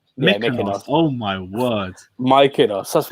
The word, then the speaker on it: Mykonos: I don't know how to pronounce it. Did I say it wrong? Yeah, Mykonos.